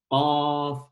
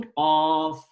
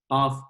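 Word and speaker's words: قاف: Qaf, une seule lettre, qui s'appelle Qaf. D'ailleurs, ça s'écrit comme une lettre, mais ça se prononce, la prononciation Qaf. Qaf.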